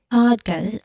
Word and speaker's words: podcast: Although understandable because it's a subtle difference between the correct pronunciation which is podcast is podcast. Uh you notice um just look at my how my lips formed or how my mouth formed when I say the two distinct or two different pronunciation. First the correct one podcast. Podcast. One more time podcast.